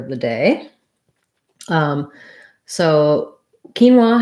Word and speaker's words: quinoa: the day um so quinoa has first syllable stress the q u um usually in english is going to say like in um quote for example um in quinoa however it just says the k sound and then the i